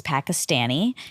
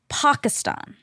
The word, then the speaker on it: Pakistan: also because it's not it wouldn't be pistan but you that is how he says it no he says Pakistan Pakistan which is actually how you say it okay but here